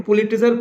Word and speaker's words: Pulitzer: Next, Robert Frost को fiction में पुलिट्जर प्राइज, Robert Frost को फिक्शन में पुलिट्जर प्राइज, इसको प्रोनाउंस करते हैं, पुलिट्जर प्राइज जो है कितनी बार मिला था?